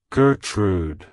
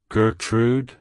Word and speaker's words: Gertrude: strength it's pronounced as Gertrude Gertrude Gertrude to pronounce it correctly emphasize the G and say trud as in food like hello Gertrude goodbye